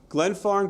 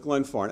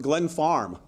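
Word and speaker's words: Glenfarne: And we had a meeting with Glen Farm. I had never heard of Glen Farm. I couldn't even pronounce Glen Farm. For the longest time, I was pronouncing it Glen Farm.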